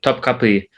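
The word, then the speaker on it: Topkapı: Is and then the palace, the Topkapi. Is that how you pronounce it? The Topkapi, Yeah.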